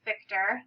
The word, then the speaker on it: Fichter: Fichter. The CH is pronounced more like a K.